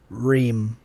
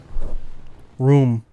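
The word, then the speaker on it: rheum: Ream. Ream? Ream. Well, looking at the phonetics, room. Phonetically, it'd be room.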